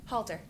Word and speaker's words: Halter: i'm sorry naomi i missed your last name halter nice to meet you and spell it h-a-l-t-e-r good thank you very much welcome